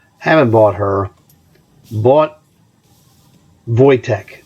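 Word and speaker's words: Wojtek: haven't bought her bought voytech that's how you pronounce his name he is a Polish circus bear famous in Poland that's vojtek so these guys the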